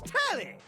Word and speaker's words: Telly: Her name's Telly. Rhymes with Nelly. Like, whoa, Nelly.